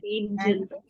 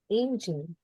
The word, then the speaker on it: angel: the difference angle and angel angel yes G in the word Angel there is soft soft G rule but in the word angle it's not there okay so whenever you have